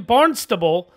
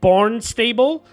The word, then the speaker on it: Barnstable: i'm sure i'm gonna get butchered because i know it's i mean it's spelled barn stable but i think it's barnstable or barnstable uh massachusetts but i'm sure